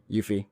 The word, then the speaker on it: Yuffie: Yuffie.